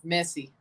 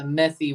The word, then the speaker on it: Messi: to concacaf Messi Messi are you trying to say it like uh the catalans or uh Pat McAfee says it because Pat McAfee tries to say it the methy way I don't think I think he's trying to say like a catalanian would say it but you don't say it like that because he's Argentinian what is Montreal doing right